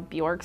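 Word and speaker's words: Björk: Bjork, like New York, but with a B, Bjork?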